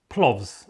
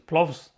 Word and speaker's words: plovs: going to be making plovs or plows as it is in latvian um latvian alphabet the v is a very soft hardly pronounced sound as but in english